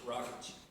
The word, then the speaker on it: Rakich: Is it Rakich or Rakich? Rakich. Rakich.